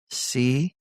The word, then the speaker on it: CZK: Today, welcome CZK, right?